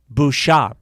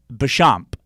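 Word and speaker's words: Béchamp: terrain mattered and bernard got his from antoine bouchard sorry i knew i mispronounced it antoine boucham bechamp and they all competed with each other but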